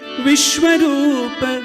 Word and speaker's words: विश्वरूप: विश्वरूप तुम हो, whereas it should be Vishwaroop.